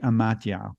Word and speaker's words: amathia: Now, the word that's often translated stupidity, however, is the ancient Greek amatia, which is spelled Amathia, and it really means unwisdom.